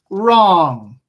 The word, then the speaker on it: wrong: right as in to write something right right wrong wrong wrong wrote wrote wrote wreck wreck wreck